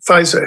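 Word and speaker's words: Fieser: I'd be fascinated too with another subject that my wife directed me to, and that's the man, Pfizer, his name is, that's how it's pronounced, F-I-E-S-E-R, Louis, first name, who invented napalm.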